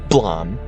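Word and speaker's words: Blame!: Hailing from the semi-obscure manga Blom, yes, it's a it's actually pronounced that way. supposed to be the sound of a gun going off.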